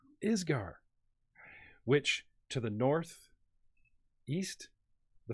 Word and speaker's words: Isger: The country, because I constantly pronounce it wrong. Isger.